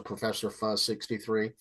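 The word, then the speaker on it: Prof. Fuzz 63: them they're called um it's spelled Pro Prof fuz 63 but he's a professor professor fuz 63 right Mike farmer and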